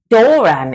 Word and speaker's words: Doran: Doran, even, you pronounce it as in Druidic.